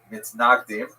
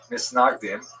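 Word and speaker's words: מתנגדים: A series of bans and counter-bans between the so-called opponents, or in Hebrew, mitnagdim, Ashkenazi pronunciation, misnagdim, or to our friends, the misnagdim opposed the Hasidim bitterly.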